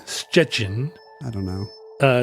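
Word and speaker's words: Szczecin: it's got it it it doesn't have any T's in it it's spelled SZ c z e c i n we don't have a lot of words in English but start with the sound yeah uh and it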